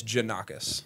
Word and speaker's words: Jannakos: I've had maybe two people in my life say it right, which is okay. But it's Jannakos. Jannakos, and Jannakos. It's Greek. It's Greek.